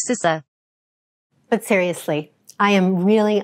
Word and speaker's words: CISA: a hotly debated topic, and that is the pronunciation of my agency. It's CISA. CISA. CISA. Seriously, it's not that hard. It is pronounced CISA.